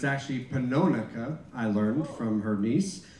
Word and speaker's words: Pannonica: tonight one is her name uh it's often pronounced as panonica but it's actually panonaka i learned from her niece so it's panonica